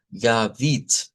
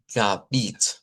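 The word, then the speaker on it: Gebet: oración en idioma doch la vamos a pronunciar como gavit siendo esta unba aquí en esta posición unaba no suena como que sino que suena como ga. Y luego la sílaba tónica se centra aquí y decimos bit gabit gabit.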